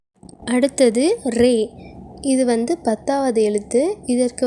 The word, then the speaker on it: ر: அடுத்தது ரே இது வந்து பத்தாவது எழுத்து இதற்கு வந்து மேலேயும் கீழேயும் புள்ளிகள் கிடையாது. இதடைய உச்சரிப்பு எப்படின்னா ரா வைப்ரேட் ஆகுற மாதிரி உச்சரிக்கணும் ரா மொத்தமா சொல்லணும் ரா ஜே இது வந்து 11